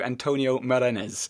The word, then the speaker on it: Antonio Morenés: i'm duncan cj and today i'm talking to antonio marinez is that your pronunciation yeah more or less i've been i've